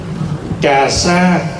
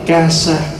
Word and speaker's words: cà sa: hoà giải thích chút cà sa đọc đúng là ca sa chữ ca là tiếng